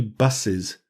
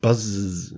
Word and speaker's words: buses: So say one bus, two buses, not buzzes.